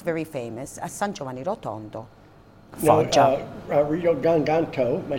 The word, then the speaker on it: Rodi Garganico: Rodi Garganico, am I saying it right? Rodi Garganico. Rodi Garganico, that's right.